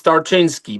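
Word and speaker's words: Tarczyński: Is that right, Tinski? It's not It's not easy to pronounce it. It's Tartinsky.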